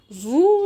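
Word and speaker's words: vous: طيب ده بخصوص الار الاس هنطقها ولا لا فو نو انتم فو نحن نو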